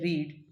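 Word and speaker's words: read: इट्स a book before bed, तो जो word है रीड, रीड्स, इसका सेकेंड फॉर्म रेड हो जाएगा, रीड का सेकेंड फॉर्म रेड होता है, स्पेलिंग सेम ही रहती है रीड और रेड की, तो यहाँ पे रीड्स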